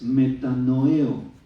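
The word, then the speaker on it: μετανοέω: La palabra griega es metanoeo, tiene acento en la E, segunda.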